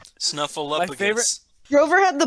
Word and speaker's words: Snuffleupagus: Snuffleupagus is cool, but I like Snuffleupagus. I can never get his name down. Snuffleupagus? But there's a P in there. It's so hard to pronounce. Snuffleupagus.